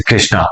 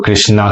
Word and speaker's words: कृष्ण: ए तो क्या होता है, जब ब्रिटिशर्स आए तो उन्होंने हर वर्ड में, जैसे कृष्णा, तो कृष्णा के बदले कृष्ण होता है, कृष्णा तो हमने बोला है।